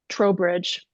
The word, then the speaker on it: Trowbridge: And his last name is pronounced Trowbridge. I was wrong earlier and I know how to pronounce it, so I apologize.